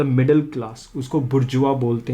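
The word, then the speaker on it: bourgeois: थी प्रोलिटेरिएट और बुर्जुआ ये वर्ड ध्यान से सुन लो बुर्जुआ ठीक है बुर्जुआ अब बोलने में थोड़ा सा अजीब सा लगता है कि या स्पेलिंग क्या दे रखी है ठीक है और बोल क्या रहे हैं तो ठीक है तो वर्ड तो ऐसा ही रहेगा तो वर्ड है बुर्जुआ बुर्जुआ बुर्जुआ फाइन तो बुर्जुआ बेसिकली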